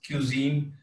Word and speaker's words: Qzeen: So Cuisine is like, so it's pronounced cuisine, which is cuisine जो भी आप खा ले, लेकिन it's spelled QZ, and that's after my first name and my sister's, Zainab, her first initials.